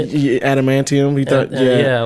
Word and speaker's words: adamantium: Did he thought it was like the antimonium? How do you say it? Yeah, adamantium.